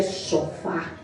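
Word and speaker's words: שופר: Em hebreu se pronuncia shofar.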